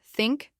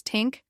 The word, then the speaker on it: think: Marco would often pronounce words like think and thank as tink and tank.